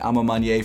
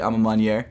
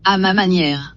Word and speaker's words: Ma Maniere: Ma Maniere, which by the way it is pronounced Ma Maniere. I've been calling it Ma Maniere for months at this point, but I looked it up. It's actually Ma Maniere. Ma Maniere.